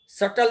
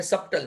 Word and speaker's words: subtle: कुछ कुछ प्रोनाउंसिएशन है, जैसे कि आगे मैंने बताया था SUBTLE, बट बी का प्रोनाउंस नहीं करते, सटल बोलते हैं, सब्टल नहीं.